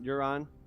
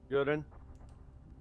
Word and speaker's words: Yuron: Is that how we pronounce that? Yeah, that's fine. You're on. Yuron.